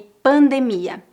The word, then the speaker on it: pandemia: número dois epidemia e pandemia presta atenção que a sílaba tônica dessas palavras a no final epidemia pandemia as palavras terminadas com